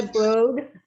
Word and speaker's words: Broad: Eli Broad, which rhymes with toad, created two Fortune 500 companies, Kaufman Broad Homes and Sun America Bank, with an estimated net worth of 6.7 billion.